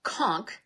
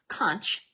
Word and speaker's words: conch: And it's pronounced conchk as in k o n k not kunch like lunch.